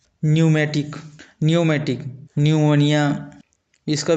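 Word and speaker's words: pneumatic: उसी प्रकार न्यूमेटिक इसका भी स्पेलिंग इस प्रकार से होता है किंतु पढ़ा इस प्रकार से जाता है। न्यूमेटिक न्यूमेटिक न्यूमोनिया इसका भी स्पेलिंग इस प्रकार से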